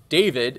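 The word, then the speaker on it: D4v1d: three cost 1 muu it's called David although it's spelled D4 v1d so we have some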